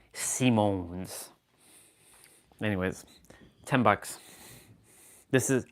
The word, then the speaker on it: Simons: It's spelled Simons, but they say Simones with with that with that like accent. Simones.